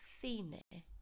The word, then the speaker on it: cine: And I've also highlighted the CI of cine because it's pronounced like a TH. Remember when the C is followed by an I.